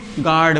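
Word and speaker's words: guard: आ जाता है तो यू किसी काम का नहीं होता। बोला ही नहीं जाता। इसे हम क्या पढ़ेंगे? गार्ड पढ़ेंगे।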